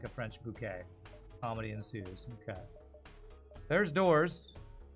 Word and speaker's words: Bucket: From a British comedy, she always pronounced it Mrs. Bouquet instead of Bucket.